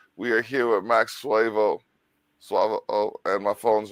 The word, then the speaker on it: Suavo: It's always the same A, swa. Okay. The A is never pronounced the other way. So it's a little easier for the Spanish people, suavo.